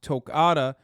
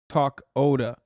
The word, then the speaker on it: Tokata: he said it wrong heads up that toccata iron eyes is pronounced tokata not talk oda okay like they they